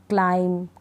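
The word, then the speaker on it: climb: तो यहाँ पर बी का उच्चारण नहीं होगा, बी को हम नहीं पढ़ेंगे। चलिए स्पेलिंग्स पढ़ लेते हैं। बॉम्ब, टॉम्ब नहीं, बॉम्ब, टॉम, डम, क्लाइम, कॉम, लैम, थम।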